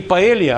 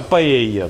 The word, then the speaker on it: паэлья: Не «Паэлья», а «Паэйя», да?